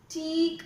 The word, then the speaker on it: teak: Please don't read it as tick and pick. It's the opposite. Teak and peak.